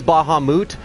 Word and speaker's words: Bahamut: I know it's Bahamut, but that doesn't roll off the tongue, so I call it Bahamut.